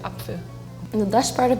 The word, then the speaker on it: Apfel: It's Apfel. You take out the second P and you put an F. But the E is more like Apfel.